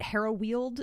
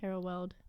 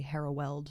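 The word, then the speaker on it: Harrow Weald: I want to say I pronounced it hero wield in the last one I think it's probably hareld hereld h a r r o w e a l d which I think in British English would actually be hereld not hero wield har so sorry I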